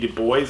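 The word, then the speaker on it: Du Bois: like web de boys I hated that in school when I learned it was web de boys I was like that's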